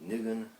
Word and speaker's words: nigun: is a wordless melody Yiddish pronouncers might say something like niggan Hebrew is more like Lagoon but it's a Melody